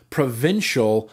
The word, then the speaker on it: provincial: By the way, it's pronounced provincial, not provincial.